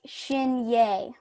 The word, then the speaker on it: Shinyei: I just don't know you pronounce it like shin yay shin yay okay my first thought